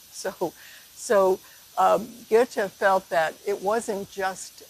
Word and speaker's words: Goethe: Then, Johann Wolfgang von Goethe, and those of you who speak German better than I, I think it's pronounced Goethe, g o e t h e.